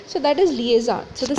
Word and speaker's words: liaison: So first of all, the correct pronunciation is liaison, and after that, let's get on to the meaning of the word before actually understanding.